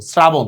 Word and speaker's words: শ্রাবণ: মত শ্রোতা লিখছি তালবস উচ্চারণ করতেছি দন্তস্যর মত শ্রাবণ দেখছো লেখছি তালবস উচ্চারণ করতেছি দন্তস্য আবার দেখো আরবিতে আমরাশিন লেখি